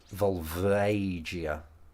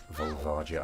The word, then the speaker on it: Volvagia: you said about that I pronounced volia with an a sound which wasn't yeah it's not the way it's not the way to pronounce it yeah volv yeah